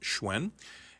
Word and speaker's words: Hsuen: Our handle is Halifax Radio, or you can go to my personal Facebook page at Hsuen, which is pronounced Hsuen, and you can add me as a friend, and I can certainly add you as one of my friends.